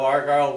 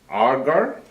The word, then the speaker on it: Argyle: I was born in Argyle, on a farm outside of Argyle, Wisconsin. Argar? Argyle. Could you spell it?